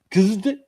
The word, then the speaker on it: KZZT: And since I'm new to Lobo, how the hell do you pronounce KZZT? Kizd.